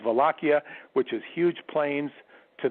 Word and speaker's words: Wallachia: prince of volakia or we would say a wallachia with a w but it's pronounced velocia which is huge plains to the south of